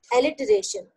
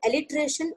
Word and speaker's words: alliteration: Alliteration. Yes. Pronounce it properly, because if you pronounce it alliteration, you will write it A-L-L-I-T-R-A-T-I-O-N. However, it is alliteration, that is A-L-L-I-T-E-R-A-T-I-O-N.